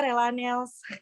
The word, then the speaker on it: Relannails: Dibacanya itu apa? Dibacanya itu gimana ya Kak? Biasa aja, Relanels.